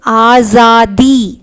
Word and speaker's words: आज़ादी: So after independence, आज़ादी, see जा இருக்கு, ஜாக்கு கீழே you have a dot here இல்லையா. So you have to pronounce this as za.